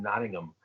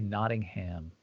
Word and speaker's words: Nottingham: england i believe in nottingham nottingham forest wow and and by the way mike very good pronunciation i'm glad you didn't say nottingham anyway she wants to